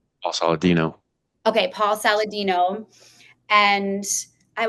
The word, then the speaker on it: Saladino: Paul Saladino.